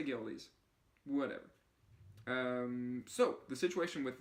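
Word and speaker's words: Goeldi's: It could be pronounced Goldies or something. I couldn't find that. So I'm going to say Geldes.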